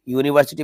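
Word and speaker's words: university: है his father is यूनिवर्सिटी professor क्योंकि यू आपको यहां पे या का साउंड दे रहा है तो यहां पे ए लगेगा आ यूनिवर्सिटी प्रोफेसर आई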